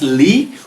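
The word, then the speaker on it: لِ: It means that whenever this lam, which is pronounced as li, whenever it appears like this, it has the meaning to fi'l amr.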